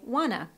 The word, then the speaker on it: wanna: So instead of doing that hard work with the pronunciation, we blend it and say wanna.